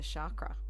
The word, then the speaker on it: chakra: it's probably good to know what is a chakra for those that haven't some people call them chakras as well there's all different pronunciations yeah look chakra is actually the correct